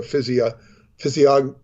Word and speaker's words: physiognomy: These scholars believe all these elements converge into a physiognomy.